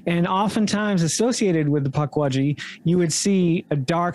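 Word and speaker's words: Pukwudgie: Before we go any further, how is it pronounced? Because I'm pretty sure everybody said it differently. Puckwudgie.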